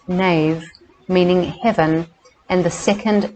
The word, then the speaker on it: Neam: The name word Neamruaid is composed of two syllables, the first Neam, pronounced nave, meaning heaven, and the second Riod, meaning red.